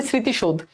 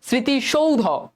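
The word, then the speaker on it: স্মৃতিসৌধ: স্মৃতি সৌধ স্মৃতি সৌধ যদি আমরা উচ্চারণ করি স্মৃতিশোধ বাট এটা কিন্তু স্মৃতিশোধ না এটা কি হবে স্মৃতি সৌধ স্মৃতি সৌধ স্মৃতি সৌধ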